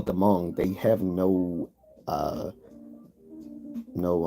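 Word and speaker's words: Hmong: have you have the the Mong people that's spelled h m o n g but they called the Mong there sort of like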